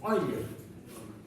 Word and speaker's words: Euler: Porque se escribe Euler, pero como era alemán el sujeto, y en alemán se pronuncia su apellido Euler, matemático alemán.